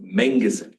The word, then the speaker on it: Manguson: Pronounced Manguson, like a beef hotel, Angus Inn.